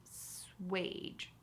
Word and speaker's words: assuage: Let's pronounce it slowly. Swage, swage. I certainly hear the word wage there at the end.